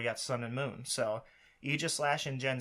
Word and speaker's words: Aegislash: Just a heads up, in Latin, Aegis is A-E is pronounced Aegis. So anybody that wants to argue that, it should be Aegislash, technically.